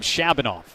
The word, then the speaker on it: Shabanov: I I asked him this morning how you pronounce the name Shabonov. It's the correct way.